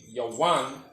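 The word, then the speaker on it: יון: Biblical name Yawan is the pronunciation in the Hebrew, and this is the ancient Hebrew in the spelling.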